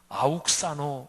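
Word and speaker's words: αὐξάνω: 단어인데 잘한다 바로이 표현이에요 이 자란다는 헬라어 원어가 발음이 아웃사 이렇게 발음해요 그런데 예수님께서이 단어를 언제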